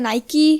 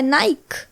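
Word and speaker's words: Nike: कोई लोग बोलते हैं नाइकी, कोई बोलता है नाइक। तो इसको क्लियर करने के लिए मैंने लिटरली गूगल पे सर्च किया तो मुझे पता लगा कि इंडियन प्रोनाउंसिएशन में हम लोग नाइक बोलते हैं और अमेरिकन और ब्रिटिश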